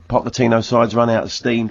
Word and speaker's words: Pochettino: What we started with Pochettino.